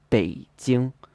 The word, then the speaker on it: 北京: in a flat tone, but in Mandarin it should be a third tone plus a first tone, 北京.